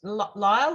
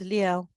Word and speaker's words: Leo: here we go um is it pronounced Lyle or Leo I'm not sure the pronounced it's Leo Leo beautiful yeah beautiful um